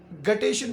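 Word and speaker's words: guttation: इस हाइड्रोथोट के थ्रू जो लॉस ऑफ वाटर होता है, इसको ग्यूटेशन कहा जाता है। गटेशन भी अक्सर लोग इसको प्रोनाउंस कर लेते हैं।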